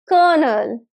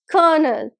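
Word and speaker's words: colonel: Now this word is kernel, kernel, right? So L there is silent. We will not pronounce L in this.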